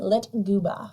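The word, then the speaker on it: lyktgubbe: the Swedish believe the floating lights are called lit goba that is spelled l y KT g u BB e lit and I had to go online to like know how to pronounce it lit gooa you know me I wouldn't be able to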